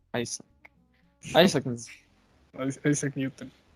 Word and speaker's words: Isaac: sí, como dirían los ingleses, pronuncia Isaac.